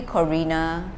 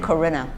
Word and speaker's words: Corinna: Oh, how have people mispronounced it? It's usually Corinna, but you said Corinna.